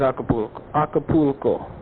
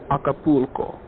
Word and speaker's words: Acapulco: Well, the one place I did not want to go is Acapulco. That's how Americans say it. Pero Acapulco.